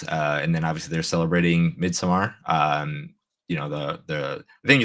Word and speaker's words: Midsommar: I No, you're pronounce it. saying it right because it's an AR, not an ER, so it is Midsummer.